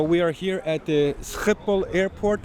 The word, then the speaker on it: Schiphol: So we are here at the Schiphol airport. How do we pronounce it? Schiphol.